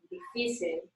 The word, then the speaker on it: difícil: On the vowel of the syllable prior to that. Mm-hmm. Okay. Difícil.